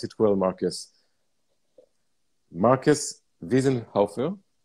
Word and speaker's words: Wiesenhofer: So I have the pleasure to welcome, I hope I will pronounce it well, Markus. Markus Wiesenhofer. Wiesenhofer?